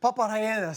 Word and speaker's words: Papa rellena: Papa rellenas.